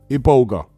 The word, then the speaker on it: Iboga: Now, Iboga is spelled with an I. Iboga.